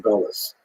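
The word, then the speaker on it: גלות: In Hebrew, galut, or in a Ashkenazi pronunciation, gullus, that Jews were thrown out of their land.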